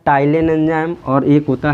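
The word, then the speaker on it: ptyalin: तो इनके बारे में देखो, जो टाइलिन होता है, टाइलिन इंग्लिश में लिखेंगे तो पी इसमें साइलेंट होता है, पटाइलिन लिखा जाता है।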